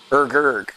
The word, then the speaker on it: Urgurg: Be the ogre, Urgig says. Urgurg. I'm sorry, Urgurg. How dare I mispronounce that?